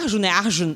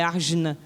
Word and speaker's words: Arjuna: Nem é Arjuna é Argjina. Tem um hoje final de semana eu escutei como é que seria de verdade a pronúncia do nome, mas vai Arjuna mesmo.